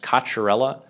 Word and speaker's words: Cocchiarella: My last name is pronounced Kacharella um as probably an incorrect incorrect like Italian pronunciation, but that is how you pronounce it for those that were wondering.